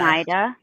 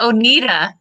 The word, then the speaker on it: Oneida: I always called it Oneida. That's probably saying it wrong. I always say Oneida. I don't know if it's I right. always pronounced it Oneida. Yeah, I've always. I don't I know think which it one is Oneida. Because they say, Is it Oneida? I think there's an Oneida, New York, if I'm not mistaken. And I think that's how they say it.